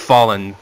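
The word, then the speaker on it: Follin: is the uh it's the best it it's pronounced Fallen but I'm trying to lean my way to say pron s it right instead of saying Fen which I think sounds better but forget it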